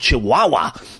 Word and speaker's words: Chiwawa: The music, the theme music is by a group called Chihuahua, but that's spelled CHIWAWA, and it's awesome.